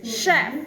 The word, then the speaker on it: chef: To make things more difficult, there are a couple of words that spell with CH, also pronounced sh sound. Was chef, Chicago.